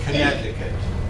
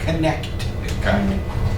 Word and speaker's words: Connecticut: Notice the word Connecticut. It's an eastern state. It has a T in there. It looks like it should be Connecticut.